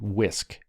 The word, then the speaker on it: WSCC: interchangeable this model wscc whisk is how it's pronounced is the idea that